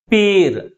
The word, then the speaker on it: appear: appear. Appear. Which syllable is pronounced with a greater force? Second syllable is pronounced with a greater force comparing with first one.